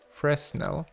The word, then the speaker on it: Fresnel: And the thing that we use for this is called, right click, Fresnel, F-R-E-S-N-E-L, Fresnel, but it's pronounced Fresnel, like that.